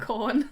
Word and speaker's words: Khorne: Yeah, his name is Khorne. Corn. Hey, spelt with a K.